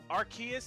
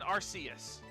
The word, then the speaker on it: Arceus: Yep, Arceus and Arceus, they say it both ways.